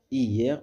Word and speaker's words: hier: le fait de prononcer de regrouper regrouper une syllabe que l'on sépare habituellement par exemple hier hier on dit hier on dit pas hier d'accord